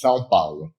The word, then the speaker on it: São Paulo: It's São Paulo. São Paulo? Paulo. Paulo. All right. So, it's almost like the Brazilian version of the Italian word, Paulo.